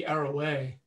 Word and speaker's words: Arouet: Is that how you say it? Arouet or Arouet? Yeah, I think I've heard both, but I do think it is maybe Arroway.